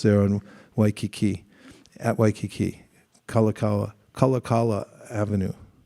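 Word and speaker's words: Kalākaua Avenue: on Waikiki at Waikiki kalakawa kalakala Avenue they say it wrong so then as I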